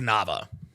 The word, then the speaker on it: Nava: And by the way, Neva's last name is not pronounced Neva. That last name is pronounced Nava. I've dated many Mexican girls. I'm very aware of, whatever. No, it's the last name is Nava.